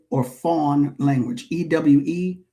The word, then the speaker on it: Fon: The Eway or Fawn language, Ew, pronounced Eway, Fawn, Fo N.